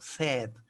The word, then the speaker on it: said: Ya no say, sino said. Said como cuando nosotros decimos tengo sed.